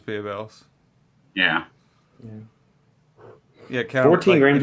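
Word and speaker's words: Barebells: yeah babe else caramel i always just called them barbells but they do pronounce themselves as beer bells yeah yeah yeah 14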